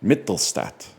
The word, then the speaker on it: Mittelstadt: How do you pronounce this, or how do you spell this dude's name? Mittel, Casey Mittelstadt. There we go. This is like a school picture day, man. Mittelstadt.